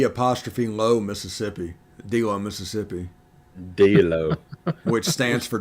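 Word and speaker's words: D'Lo: D-Low, Mississippi.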